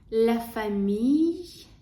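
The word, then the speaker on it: famille: сім'я кота Котяча родина ляфамі дюша лл читається як й ляфамідюша Котяча родина перше це шн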